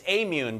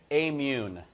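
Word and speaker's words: Aimmune: new generation of um more allergic people it's amune by the way just amune is the way that company is pronounced phillips what's the story with phillips i'm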